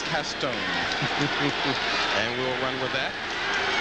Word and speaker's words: Caston: and wayne uses fonts toby went down in new orleans so to research his family roots and figured out the pr the proper pronunciation of his last name was castone and we'll run with